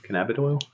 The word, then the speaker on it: cannabidiol: you touched on and I pronounced incorrectly was cannabic an avenue all cannabidiol CBD CBD yeah we